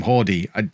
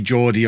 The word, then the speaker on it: Jordi: Jordi, I mean, I'm not going to call him Hordy. I'll just never remember. It's got to be Jordi or Yordi. Take your pick. Which mispronunciation do you want?